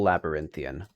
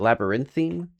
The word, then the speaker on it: labyrinthine: little strange, a little labyrinthian. I don't I don't think I'm even pronouncing labyrinth. Is it labyrinthine? One of those words that I've only like read. Hang on. Yeah, it's Labyrinthine, not Labyrinthian.